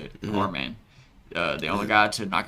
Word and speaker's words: Arman: Arman.